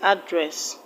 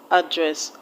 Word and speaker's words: address: afternoon and address audited how to stress address address the first level a is a sure sound so you do not